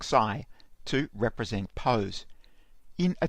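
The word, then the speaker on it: ξ: I'm going to use this Greek letter, which is pronounced xi, to represent pose.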